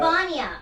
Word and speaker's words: Vanja: But her name is Vanja. Vanya. Vanya. Also, the G is silent.